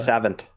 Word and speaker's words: savant: And you know that he's a savant because I tried to pronounce it in the French way, which is where you don't really pronounce the T at the end. Yeah, the savant.